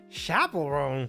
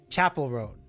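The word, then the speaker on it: Chappell Roan: Chapel Roan. What the heck? Chapel Roan. Hard CH. I think I was thinking chaperone, but I think it's a harder CH.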